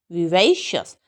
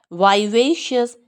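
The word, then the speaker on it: vivacious: शियस नहीं होता. विवेशियस. वही पे स्ट्रेस है, अस साउंड है. अमेरिकन्स क्या बोलते हैं? वाइवेशियस. ये विवेई बोलते हैं, ये वाइवेई. ये वी बोलते हैं, ये वाई बोलते हैं.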